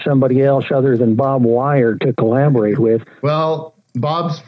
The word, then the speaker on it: Weir: up from the wire bob weir from the great that bottle pronounced wire he's flown me up